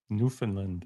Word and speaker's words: Newfoundland: Newfoundland.